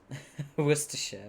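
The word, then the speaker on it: Worcestershire: That's so funny because most Americans can't even say this word. Worcester. Woristers, by the way, that's how you say it. Perhaps spilling a bit of worersha sauce on it and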